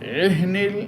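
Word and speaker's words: العهن: কাল এহনিল, কাল এহনিল, এহনিল এখানে হাটা সাকিন, এই হা উচ্চারণ করার সময় একটু ধাক্কা লাগবে।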